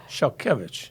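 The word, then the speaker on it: Szalkiewicz: The Z has an H sound. So instead of SZA, it's like SHA, shall, and the W has a V sound.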